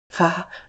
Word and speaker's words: Vater: Vater Long a sound.